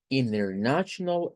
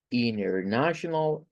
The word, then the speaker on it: international: T, como estas seguidas, el inglés norteamericano tiene una mañita que es no pronunciar la letra T.